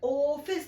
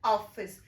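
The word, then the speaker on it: office: मतलब, हमें इसे बढ़ा-चढ़ाकर नहीं कहना चाहिए, हमें 'ओह-फाइस' नहीं कहना चाहिए। हमें इसे 'ऑफिस' कहना होगा।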